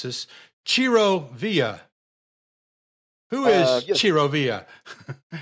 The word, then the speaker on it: Villa: Ciro Villa. Who is Ciro Villa? Actually, it's a villa. Villa. That's the pronunciation. It sounds Spanish, but it's actually Italian.